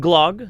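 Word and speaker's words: gløgg: maja muffin it's called glog the O is pronounced almost like the EA sound of the word early blag blag according to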